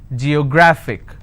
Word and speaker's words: geographic: h gra fick and the rule says if i have a word ending with ic i need to stress on the second last syllable so i'll pronounce this as geographic if i have another